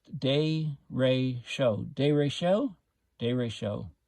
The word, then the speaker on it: derecho: the storm arrived so directio pronounced day ray show day ratio day ray